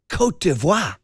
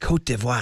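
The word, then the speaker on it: Côte d'Ivoire: But then somewhere along the way they went to their French pronunciation. It's kind of fun to say, isn't it? Nice. Kotivo. Kotvo.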